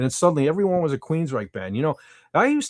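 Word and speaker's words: Queensrÿche: And suddenly everybody Queens then all of a sudden people knew how to pronounce Queens Reich and they were straight as an arrow.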